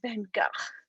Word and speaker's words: van Gogh: will correct you and be like oh it's van gaal or whatever and it's like calm down like in america i'm going to say van gogh and if i ever go there i'll say it right but yeah so